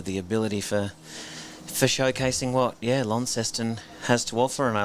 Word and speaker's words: Launceston: with the English, around how we here in Tasmania have added that extra syllable to what they have sort of southwest of England being Launceston, spelt exactly the same way, and we've been Launceston somehow. Are you what's the word I want?